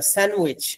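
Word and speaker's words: sandwich: করে যাবেনকে you don't নিডজট কিউ স্যান্ডউইচ না স্যান্ডুইচ ডিটা silent হয়ে যায়।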